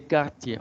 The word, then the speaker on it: quartiers: Non, les quartiers. On ne prononce pas la R.